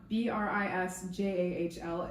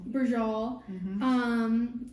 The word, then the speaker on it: Braciole: the I wrote, so it's spelled Braciole, but I wrote down Brisjahl is the pronunciation, as if that would help me right now. Oh. So well, that's the episode title. Okay. Brijal.